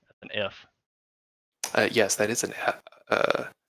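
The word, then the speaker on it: phở: off the name you wouldn't actually it's actually pronounced fu but we didn't know that at the time so we went with faux for all but uh that's the vietnamese noodle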